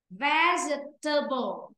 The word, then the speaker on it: vegetable: Vegetable. Table. Vegetable. Chúng đọc là forgettable. Nếu mà đọc vơ ghé tơ bơ lên nó rồi có chữ ghé mà rồi. Vì vậy em phải đọc là vegetable.